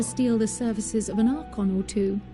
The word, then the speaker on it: archon: the services of an archon or two are con that's how you say it archon and thereby gain